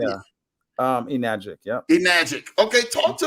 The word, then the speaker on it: Enagic: Enagic, yep.